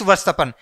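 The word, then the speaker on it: Verstappen: वास्तव ने वर्ष तपन इसका सही उच्चारण होगा मैक्स varshgaan मैक्स varshgaan किसके लिए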